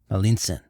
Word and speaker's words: Malintzin: Malintzin, or Malince. The Spanish couldn't pronounce this, so they called her Malinche.